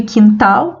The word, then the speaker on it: quintal: pronunciamos a letra u quebrar quilo e quintal mesma coisa né o único fonema porque não pronunciamos a letra u e não se separa